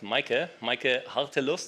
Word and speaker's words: Meike Hartelust: And we also have Meike Hartelust. So I hope I pronounced that correctly.